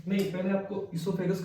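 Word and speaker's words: oesophagus: लिखा जाता है ओइसोफेगस, पर वो साइलेंट होता है, इसोफेगस होता है, ठीक है।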